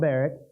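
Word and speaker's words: Barak: she sent and called baric I've always pronounced that baric recent political days if you say Barack that's okay I I've always said baric and that just seems simpler at this point not the point of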